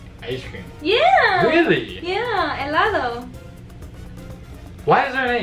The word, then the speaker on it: helado: Helado. Oh, wow. No. Helado. Gelato. Close. Ice cream. Yeah. Really? Yeah, helado. Why is there an H? Why is there an H? It's so silent.